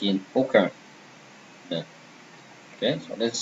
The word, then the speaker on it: aucun: Example, aucun, none. Okay, and you see here, AU, here is O actually, pronounced O, same as O.